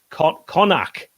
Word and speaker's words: Connaught: Connaught is pronounced Connacht.